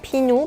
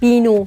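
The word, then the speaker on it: 비누: is at the beginning i pronounce it p pinoo means soap but if Phieup was in the middle sounds B for example nabi Nieun has combined with a naa Phieup has combined with i bi naabi i pronounce B because it is in the middle i don't say naapi i say naabi or i don't say binoo i say pinoo guys you should pay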